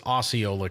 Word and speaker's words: Osceola: Could be Osceola, but I think that's Iowa. I believe this is Osceola County here in Florida is how you pronounce that.